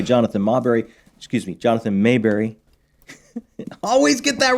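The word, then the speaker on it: Maberry: Trilogy is by Jonathan mberry excuse me Jonathan Mayberry always get that wrong how dare you I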